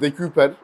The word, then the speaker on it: De Cuyper: Bu arada De Kuyper diye telaffuz ediliyor çoğu yerde ama biz de biliyorsunuz hani yorumlarda zaten hemen böyle yanlış bir şey oldu mu?